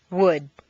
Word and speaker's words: would: Once you've found all the L sounds, the good news is that very often you don't even have to pronounce them. Read the following list of words after me. 1. Would, could, should.